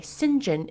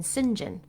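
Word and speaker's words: St John: personality seems a little by the way sinjin is written out as saint john but i have heard it said and pronounced asinjin many many many many many times in fact every time i've ever heard his name pronounced it's been sinjin so i don't understand the why but i have confidence that that's how it's supposed to be done sinjin um he's a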